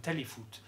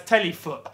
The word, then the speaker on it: Téléfoot: But Téléfoot is, I'm giving it that correct pronunciation. Téléfoot. You lot would read it as Téléfoot, but I'm not going to brutalise the French language.